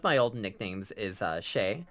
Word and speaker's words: chez: One one of my old nicknames is uh Shay like home. Like the French word for home. ChemX is shezzmeck is pretty peak. It is. It's supposed to be pronounced shay but like I just say chez because um it works better with checks.